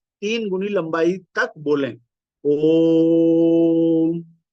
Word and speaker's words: ओम: अर्थ यह हुआ कि ओ शब्द को सामान्य की अपेक्षा तीन गुनी क्षमता से बोला जाए तद उपरांत उसके साथ अर्ध मा की अर्ध बिंदु अर्ध अनुस्वार कली जोड़ दी जाए यही ओम का उच्चारण है ओ तीन गुनी शक्ति से बोला जाए म मा के नीचे हलंत है अर्थात ये आधा इन तीनों का संक्षिप्त